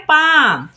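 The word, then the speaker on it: palm: पहले तो यहां पर एल हो जाएगा साइलेंट तो क्या पढ़ते हैं पाम हाफ यहां पर भी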